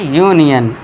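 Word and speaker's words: union: देखिए यूनियन last में ओ एन यूनियन आ का साउंड आ रहा है।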